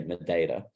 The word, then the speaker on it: Madeira: So I'm going to Madeira, or as the Portuguese people would say, Madeira. That's how it's actually pronounced, but us British people have just ruined it, which is fairly accurate.